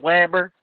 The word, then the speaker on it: Weber: Max Weber, pronounce it right. Weber. It's actually Weber.